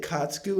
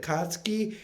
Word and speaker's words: Katsuki: to say his name i said katsuku instead of katsuki and that just became